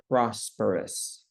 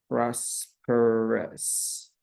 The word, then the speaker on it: prosperous: And the second one, I heard somebody try to pronounce this word, but they added another vowel in the middle of it, prosperous. So there is no I over here. It should only be pronounced as prosperous.